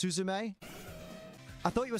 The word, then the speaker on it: Suzume: It's pronounced Suzume.